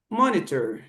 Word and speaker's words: monitor: é o Heart Rate Monitor, ou como dizem os americanos, Monitor. Eles vão pronunciar o T como flap T.